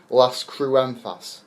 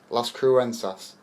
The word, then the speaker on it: Las Cruces: Now, you're from, excuse me if I pronounce this wrong, Las Cruentas. Las Cruces. Las Cruces in New Mexico.